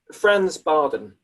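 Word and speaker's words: Franz Bardon: Franz Barden. Franz Barden.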